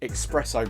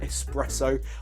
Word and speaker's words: espresso: simple flip one an expresso martini and I get but I get grief every time I say espresso I keep pronouncing the hey X I'm really sorry it's